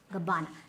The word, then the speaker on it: Gabbana: Gabbana. Now remember, Italian names, they will be a little elongated.